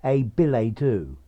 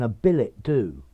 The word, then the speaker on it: billet-doux: very literary and therefore as it comes from French it's pure French I think you probably should use the um French pronunciation although you may find many people saying a b a do or even a Billet